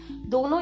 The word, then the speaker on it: the: इसको हम द बोलना चाहिए या हमें दी बोलना चाहिए, दोनों ही ठीक है, बट आपको ध्यान रखना है कि अगर द के बाद वाला लेटर एक कॉन्सोनेंट से स्टार्ट हो रहा है, यानी कि आपके जो व्यंजन वाली साउंड होती है अगर उससे स्टार्ट हो रहा है आपका, तो आप इसको द ही प्रोनाउंस करेंगे।